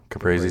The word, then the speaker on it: Caprese: Caprice or Caprese. I'm not sure if that's how they say it. Caprese, Anyway. maybe? Caprese salad?